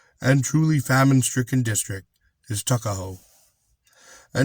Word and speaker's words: Tuckahoe: Eastern Shore men usually pronounce the word took as tuck. Tuckahoe, therefore, is in Maryland parlance Tuckahoe. But, whatever may have been